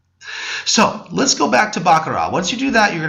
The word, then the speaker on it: Baccarat: is actually pronounced um bakara the t is silent actually if you replace just picture the t uh replaced with an H bakara it's a French word